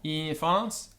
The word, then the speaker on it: infans: Notice the vowel before the NF is long, infans, and the vowel before NS is long, mensa.